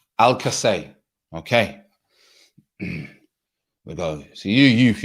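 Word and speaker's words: Alcácer: ryan has taught me al sassa is pronounced al casey right not al-sassa al-kasay okay so you you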